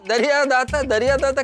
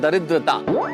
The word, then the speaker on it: दरिद्रता: वो दरिया दाता क्या बोला? अरे नहीं नहीं, ये दरिया दाता नहीं, इस शब्द का उच्चारण है दरिद्रता।